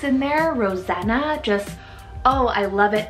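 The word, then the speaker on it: Roxena: rare name that was used is the name Rosanna spell r o s x e n a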